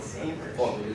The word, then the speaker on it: Saviers: It was Saviors, but they just pronounced it Savers.